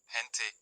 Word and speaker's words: gente: Before E and I, it has a soft, throaty H sound, gente, jaira.